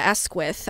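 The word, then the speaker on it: Asquith: And I saw this from Lady Cynthia Esquith. I think I'm pronouncing her name right.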